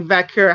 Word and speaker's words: Vaquer: it's you actually do pronounce it with like a K sound, so it is like Vaquer how they say it. It's not like how Puerto Ricans and Italians, Puerto Ricans and Dominicans like pronounce their stuff. It's not like that. So you have to say it with the K sound.